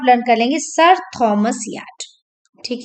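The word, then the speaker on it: Wyatt: English poetry में sonnet को किसने इंट्रोड्यूस किया, तो यहाँ पे है Milton, Shakespeare, Spencer and याट। W silent है यहाँ पे, तो याट बोलेंगे, तो this is the right answer here.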